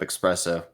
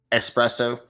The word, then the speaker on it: espresso: up expresso espresso see I don't even know how to say it to write the first time well